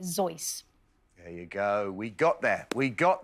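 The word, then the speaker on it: Seuss: Hat my doctor's use although he would have pronounced it sois there you go we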